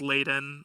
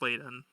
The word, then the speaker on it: Ladon: It's Ladon. I know a lot of people confused. It's pronounced Ladon.